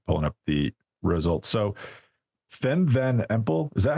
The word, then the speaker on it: Fem van Empel: So Fem van Empel, is that how we say her name, Johan?